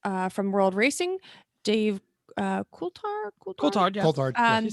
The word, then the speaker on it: Coulthard: They'll all be joined on the program by guests from World Racing, Dave Coulthard, Coulthard, yeah.